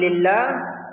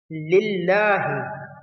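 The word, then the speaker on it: لله: The Lam in Lillah is read lightly because it is preceded by a kasra, a small I sound. Lillahi.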